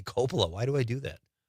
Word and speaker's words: Coppola: Thank you, Catherine, for I'm going to say Coppola from now on. I know that's the correct pronunciation, but for some reason I say Coppola.